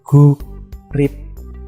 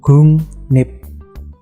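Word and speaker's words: 국립: Contohnya, di situ ada guk rip. Ya, tulisannya guk rip. Tapi bacanya gung nip. Jadi gioknya menjadi iyeng, rielnya menjadi nien.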